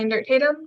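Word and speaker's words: Endert-Tatum: your honor scoring attorneys my name is and dirt tatum that's e-n-d e-r-t hyphen t-a-t-um pronuncia tonight i'll be conducting the direct examination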